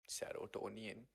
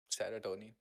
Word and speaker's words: serotonin: Serotonian. What? What twin can you pronounce? I'm about to make the serotonin just serotonin selective serotonin reuptake inhibitors increase the level of chemicals to treat depression.